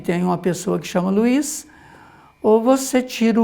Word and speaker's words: Luiz: É que de verdade, assim, muita gente que pronuncia Luiz, né? Luz. Apaga a luz aí, a luz. Isso é comum mesmo, esse I aparecer aí, né? Mas, de verdade, nós temos que ler com Luiz, né?